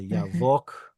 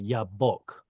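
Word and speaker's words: Jabbok: And and then there was another river in Israel, the Jabek. You know what I'm talking about, the Yavok. Uh it's usually spelled with J, but Y. Oh, sorry, Yabok. Like that.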